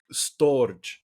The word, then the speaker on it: storge: filial sort of relationship there's I hope I pronounce this correctly storge so it's s t o r g e